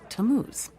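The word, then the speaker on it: Tammuz: where do I find him his name is tamuz to what t a m m u z it's pronounced tamuz maybe if you show him your evidence he'll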